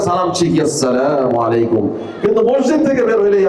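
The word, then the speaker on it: السلام عليكم: সহি উচ্চারণের মাধ্যমে আসসালামু আলাইকুম ওয়ারাহমাতুল্লাহি ওয়াবারাকাতুহ। পড়েন আপনারাও পড়েন। আসসালামু আলাইকুম ওয়ারাহমাতুল্লাহি ওয়াবারাকাতুহ। আমরা পাঁচ ওয়াক্ত মসজিদে ইমাম সাহেবদের সালাম শুনে থাকি। তারপরেও দেখবেন আমরা সালামে অশুদ্ধ হই। আমরা সালাম সহিভাবে উচ্চারণ করি না।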